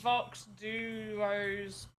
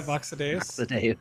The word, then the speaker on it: VoxEdit: You did the Vox Duos quest. Yeah, VoxEdit.